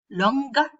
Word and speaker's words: longer: Except for the comparative and superlatives longer and longest. They are exceptions to this rule. In these cases, you do pronounce the g.